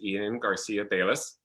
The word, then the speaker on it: Eden Garcia-Balis: It is Eden Garcia-Balis. I believe I said that correctly. You did. You said it right.